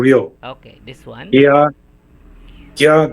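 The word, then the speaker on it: ぎゃ: And a small ya, it will be pronounced as gya, gya.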